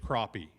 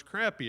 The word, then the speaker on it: crappie: Apparently, I can catch souls, but now I can't fish crappie. You know, you say, "Brother, the word's crappy, and that is how you fish." No, no, the word's crappie.